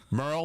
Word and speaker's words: Merl: I would have graduated Merl like Earl Merl like Earl oh yeah we've all been saying his name wrong y'all yeah that that